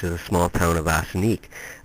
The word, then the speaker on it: Ossineke: a small town of Ossineke. The Indians pronounced it Wassineke, meaning literally place of the image stones.